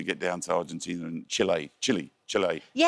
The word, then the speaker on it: Chile: So I was told specifically by the English-speaking South Americans that I was saying it wrong and I needed to call it. It's not Chile, it's Chile.